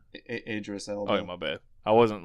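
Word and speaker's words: Idris Elba: And Iris Ela, is that how you say his name? Idris Ela.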